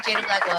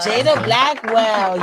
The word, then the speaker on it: Jada Blackwell: Did I say it right? Yeah, Jada Blackwell. Jada Blackwell.